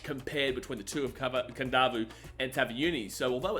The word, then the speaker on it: Kadavu: Now you see it's got Kadavu, but I pronounce it Kadavu because when you see a D in Fijian, you put an N in front of it.